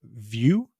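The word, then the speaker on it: Vue: with the javascript framework view which I'm pretty sure that's how it's pronounced though I've heard it pronounced of vu but I'm pretty sure it's intended to be like a view of something it's by Jase Medlen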